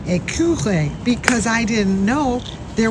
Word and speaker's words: écureuil: Écureuil.